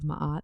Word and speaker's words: Ma'at: Dead and what this feather the feather of Ma'at sand pronounce it as Maat right it basically is